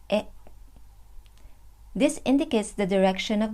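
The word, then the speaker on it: へ: by the particle e which is a hiragana but pronounced as e this indicates the direction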